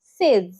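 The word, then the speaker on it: says: এ ওয়াই এস কি বলবে সে নো সঠিক উচ্চারণ হবে সেজ সেজ এস এ জেড সেজ next কবরকে ইংলিশে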